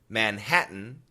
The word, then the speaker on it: Manhattan: you probably know Manhattan typical American pronunciation Manhattan it's a glottal stop and many of you